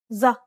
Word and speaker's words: ظ: This is the dark counterpart to the previous consonant. Build up the pressure at the point of contact and then release the air forcefully. Remember to retract the root of your tongue to constrict your throat a little. This should create a narrow channel from the base of your throat all the way to the front of your mouth.